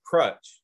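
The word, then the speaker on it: Cruit: in ireland and it's it's spelled c-r-u-i-t like pruitt and i knew that it was called crutch so i called it crutch island he corrected me right i'm like got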